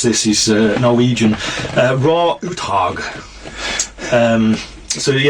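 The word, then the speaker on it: Roar Uthaug: pronounce this he's Norwegian raw utog um so yeah his first name is literally raw o r o a r so I'm pretty sure I'm pronouncing it right uh he did um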